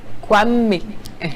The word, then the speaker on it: Kwame: Kwame. Voilà, c'est comme ça que les Akans et ceux du Ghana le prononcent un peu.